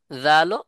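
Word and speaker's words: ذال: না এক কথায় এই দুই দাঁতের আগার সঙ্গে লাগাইয়া ছা উচ্চারণ হয় এবং জালও উচ্চারণ হয় জাল ছা এই তিনটা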